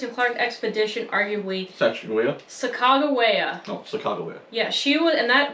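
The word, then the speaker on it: Sacagawea: on the Lewis and Clark expedition arguablya no Chicago Bear yeah she would and that that is how you actually pronounce her name she was the most important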